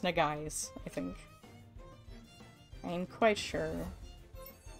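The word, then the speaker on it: Nagaise: like japanese inspired name and i was like nagaisa negaisa but it was not it's it's just pronounced na guys i think i'm quite sure why did i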